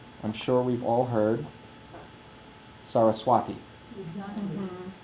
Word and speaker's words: Saraswati: So Saraswati is a good example of proper pronunciation because I'm sure we've all heard Saraswati. Exactly. It's pronounced Saraswati. The only accent is on the long vowel at the end.